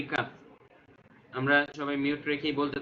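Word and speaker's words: ك: বাংলা ক এর মতোই উচ্চারণ, আরবি কাফ।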